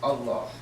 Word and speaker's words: Allah: And I bear witness that there is no God but the God, who is Al-Ilah, which is correctly pronounced as Allah.